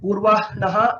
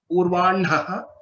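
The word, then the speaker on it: पूर्वाह्णः: I wouldn't say that Purva Naha, if you say it is completely a mistake, but the traditional practice or the Vedic recitation and practice is that to pronounce it as Purvan Naha, Vannihi, Brahma. This is the traditional way of pronouncing these letters.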